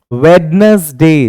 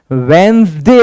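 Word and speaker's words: Wednesday: कि यह यहां पर वेडनेसडे नहीं पढ़ा जाएगा इसको हम वेनसडे पढ़ते हैं डी साइलेंट होता है यहां पर और जो प्रोनंसिएशन इसकी होती है वो होती है वेनसडे नेक्स्ट वन है और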